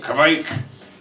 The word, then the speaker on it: kveik: And they all kind of did a sing-songy Kveik. But if you go and Google Kveik pronunciation, there's some MP3s. You can ask in Norwegian. Some people throw a W in there.